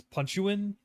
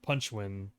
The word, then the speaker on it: Punchuin: they call it punchwin when I first saw the title I thought it said the punch like I said it in my head or I pronounced it as punch you in or punch you in but it's definitely penguin punchwin but it's like it's